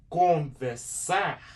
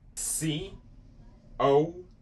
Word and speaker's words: conversar: Now, if you're saying conversar, this one also has an AR.